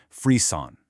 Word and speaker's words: Frisson: It's called Frisson. That's pronounced Frisson.